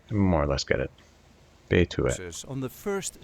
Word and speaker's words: Betuwe: region, see how to pronounce in a regular Dutch accent Betuwe. A region in the Netherlands. This is the way we say Betuwe.